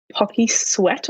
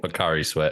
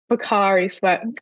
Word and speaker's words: Pocari Sweat: I'm probably going to pronounce it wrong, but it was called like Pocky Sweat or something. Pocari Sweat. But yep. Pocari Sweat.